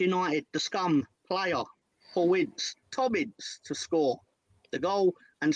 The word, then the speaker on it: Ince: Ince, yeah.